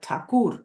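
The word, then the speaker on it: Thakur: he translated tagor and he wrote not tagor as it is spelled in in westernized form of his surname but takur which is the original this word takur um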